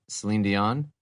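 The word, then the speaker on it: Céline Dion: Selen Dion.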